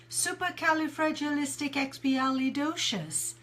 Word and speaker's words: supercalifragilisticexpialidocious: word and I will tell you how it's pronounced supercalifragilisticexpialidocious right so my color you gotta try that